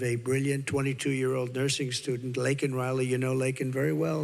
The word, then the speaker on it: Laken Riley: And after months of prodding him, Biden couldn't pronounce her name. He said, He said Lincoln Riley, and Lincoln Riley was the football coach, or the coach. And this was in Congress, couldn't even get the name right.